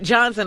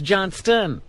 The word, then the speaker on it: Johnston: And it's not Johnson. It's Johnston.